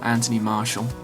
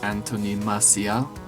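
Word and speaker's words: Anthony Martial: huge interest we know Anthony Marshall who is now being pronounced Antonia Marcia which I find a little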